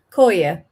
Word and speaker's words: Kolding: Kolding. Kolding? Yeah. So, the I is a oi? It's like a o Yeah, like a o.